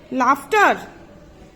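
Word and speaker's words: laughter: Plough, GH is silent. लाफ्टर, sound F.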